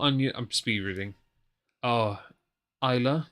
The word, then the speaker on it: Islay: I'm speed reading oh Isa so the pronunciation is actually there we we could have read that there the whole time literally Isa okay we're morons um